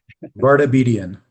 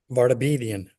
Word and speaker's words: Vardabedian: Vardabedian. Vardabedian. 5 syllables. It's a rough one.